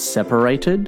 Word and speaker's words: separated: not living together separated the stress is on the first be separated if a husband needs